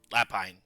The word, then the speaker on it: lapine: you call him Lapine Lapine that's how you pronounce the word okay yes Lapine like Lupine or vulpine ah so basically so